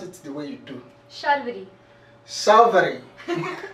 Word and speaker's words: Sharvaree: Sharvaree. Sharvaree. There's like two R's in it. So Shar.